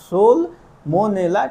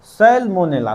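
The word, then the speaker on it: Salmonella: और इसके लिए जो बैक्टीरिया जिम्मेदार है, तो सोल सोल मोनेला टाइफी सोल मो सेलमोनेला सॉरी सोलमोनेला नहीं सेल मोनेला टाइफी नामक बैक्टीरिया है या सोलमोनेला भी कह सकते हैं। इंग्लिश में आपका इसका उच्चारण दोनों होगा।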